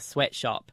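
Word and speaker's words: Sweatshoppe: your wife Mimi's very own spin technique the sweatshop and it's spelt sh 0 double PE is it still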